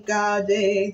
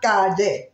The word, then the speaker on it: calle: Siendo la piedra más chica, ay de la acera de mi calle.